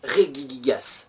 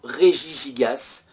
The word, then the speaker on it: Regigigas: herculéenne et ce Pokémon s'appelle Regigigas ou régie gigas les deux prononciations sont correctes et on dit que ce